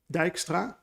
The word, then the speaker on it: Dijkstra: is is this one so for all of you non-native dutch people you pronounce it dijkstra and he used to